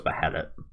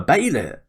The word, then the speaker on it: Behelit: I think, yeah, you guys told me that's pronounced Baylit, right? Like Daemon, Baylit. It was always spelt with a H in the subtitle, so I just thought it was Behelit.